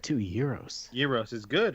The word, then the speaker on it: gyros: You pronounce it right too, gyros.